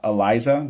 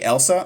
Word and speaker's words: Eliza: It's pronounced Eliza. What did I say? Did I say Elsa? I did say Elsa, huh?